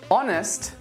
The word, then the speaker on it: honest: H is a big one, and there are a lot of words with silent H letters. Ache, anchor, architect, chaos, charisma, choir, chord, echo, honest, school, stomach.